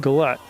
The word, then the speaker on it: Goulette: like it will be it's either goule or goulette and I think I've seen her in another sport pronounced it goulette I used to say